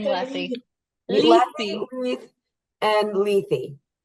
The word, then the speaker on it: Lethe: RI River um the river of forgetfulness it's Ley Ley Ley I've been saying Ley Le and Ley it's the same in Greek as one I